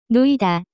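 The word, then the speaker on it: 놓이다: to be lying down the pronunciation of this word is closer to lui de the active form of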